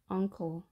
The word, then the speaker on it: uncle: 자, 이때 n 발음은 uncle이 아니라 자, ng 발음이 됩니다. uncle.